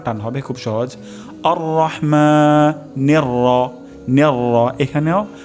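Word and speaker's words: الرحيم: সর্বোচ্চ সতর্কতা অবলম্বন করব তাহলে হা উচ্চারণ হবে গলার মাঝখান থেকে যেমন আরহ অশুদ্ধ উচ্চারণ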